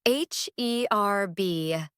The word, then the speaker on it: herb: How do you say h E R B? Herb. Where did the H go? It's herb. The H is silent. It's an herb.